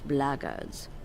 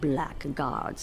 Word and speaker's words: blackguard: If you're another one of those blackguards, and that's the way to pronounce it, not blackguards like that thug insisted it was, then my answer is the same.